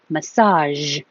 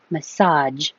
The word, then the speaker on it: massage: places Passage Passage but this one could be massage or massage with a job I think